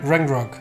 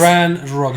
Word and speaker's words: Ranrok: Rangrok. Rangrok? This is not Valhalla, okay? This is Ranrok, no Ragnarok. I said Okay. Ranrok. You just pronounce it this way, okay?